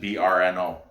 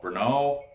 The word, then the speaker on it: Brno: pronounce it the bruno i don't even know if that's i'm saying that right because it's just brno no bruno anyway he's got a